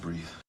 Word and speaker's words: breathe: 근데 여기서 이를 빼잖아요. 그러면 명사가 됩니다. 그리고 발음도 달라져요. breath가 됩니다. 이거는 에 발음이고 요거는 이 발음이라는 거. 그래서 breathe하고 breath는 다르고 명사 동사로 쓰임도 다르다라는 거. 발음도 다르고 쓰임도 다릅니다.